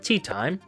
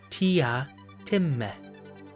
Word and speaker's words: Teatime: Fitzgerald Teatime? It is pronounced Tee-ah-tih-meh.